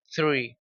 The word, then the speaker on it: three: th es como la Z española, como cuando decimos zapato, cerveza, ese es el mismo sonido. Por tanto, el número tres es three.